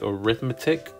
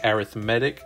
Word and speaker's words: arithmetic: and by the way I know it's spelled just like arithmetic but you have to say arithmetic if you are talking about sequences so we know that